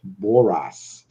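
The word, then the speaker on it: Borås: for the road boras the letter a in boras is pronounced like the a for the beginning of the word all it's like always and also like the o in norman so it's boras so and thank you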